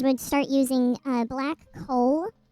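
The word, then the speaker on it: kohl: start using uh black coal which is it's not um it's spelled k o h l so it's essentially a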